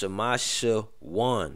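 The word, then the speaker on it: שמשון: Samson, pronounced Shamashawan. Yeah, Shamashawan.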